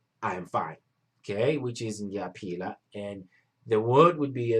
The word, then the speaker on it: ngiyaphila: And how you spell it, ngiyaphila, like how you peel your banana, ngiyaphila, but you add that ler, which will create that la sound.